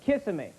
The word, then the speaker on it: Kissimmee: goes no it's pronounced kissimmee i said no it's kissimmee he goes no it's kissing me finally i pull into